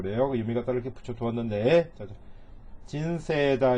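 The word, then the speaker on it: 人生: 유미같다를 이렇게 붙여 두었는데 진세다 이렇게 읽으시면 돼요. 이게 이제 세이 이렇게 되어 있지만 이가 에단에 붙어 있죠. 그러니까 얘를 길게 세 이렇게 읽는다 그랬죠.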